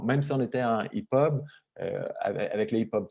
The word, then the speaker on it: EPUB: Donc, le format EPUB, c'est ça qu'il faut que je dise EPUB, hein, Myriam, je le prononce mal sinon.